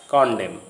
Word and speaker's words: condemn: If a word ends in MN, the N is not pronounced as in these familiar words coming to your screen. Autumn, column, dam, condemn.